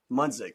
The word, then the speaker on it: Munsick: Munsick. Munsick.